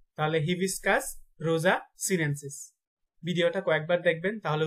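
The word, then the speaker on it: Hibiscus rosa-sinensis: জবার বৈজ্ঞানিক নাম হচ্ছে হিবিস্কাস রোজা সিনেনসিস। তাহলে হিবিস্কাস রোজা সিনেনসিস। ভিডিওটা কয়েকবার দেখবেন, তাহলে উচ্চারণগুলো ঠিক হয়ে যাবে ইনশাল্লাহ।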